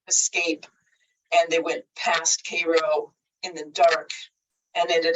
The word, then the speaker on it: Cairo: it as being near, or Cairo it's pronounced, I think, Cairo, Illinois.